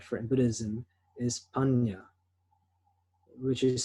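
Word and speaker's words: paññā: In Buddhism, the Pali word for it in Buddhism is panya, which is spelled P-A-N-N-A when you translate it into English text or the Roman text. Panya.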